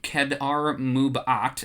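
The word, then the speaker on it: Kad'ar Mub'at: Boba Fett takes the embezzler to a creature named Kedar Mubat, and that's how I have to say it because it's spelled K-A-D apostrophe A-R M-U-B apostrophe A-T.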